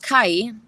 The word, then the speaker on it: chi: Your level of Kai," that's how they say chi, other people say chi or ki or whatever you would like to say.